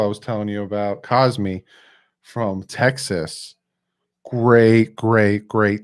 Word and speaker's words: Cosmi: cosby the tackle i was telling you about cosmic from texas great great great tackle there unanimous first team all 12. great player there great player it's great great pick by them it's hard not to say cosby because his name is pronounced cosmi cosby caused